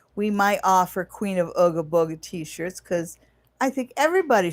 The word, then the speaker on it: Ooga Booga: OOGABOOGA. And yeah, around here we pronounce it Ooga Booga, but you pronounce it any way you like.